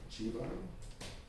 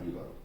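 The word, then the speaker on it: Xíbaro: So it's supposed to be Chibaro, not Hibaro. Yeah, so it's supposed.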